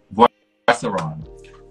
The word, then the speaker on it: Boisseron: Boisseron. Boisseron. B like boy, Oisseron. So French surname.